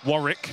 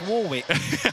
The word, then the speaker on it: Warwick: Warrick, that's how you say it. No, it's Warwick.